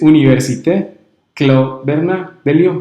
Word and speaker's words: Université Claude Bernard de Lyon: la universidad antioquia y ahorita me corrige la pronunciación de la institución del doctorado es université claude bernard de lyon como ves así como lo dijiste está muy